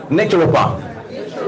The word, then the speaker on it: naturopath: P okay natural part let's all say natural part naturopath let's say naturopath I'll spell it n a t u r o p a t h naturopath see a natural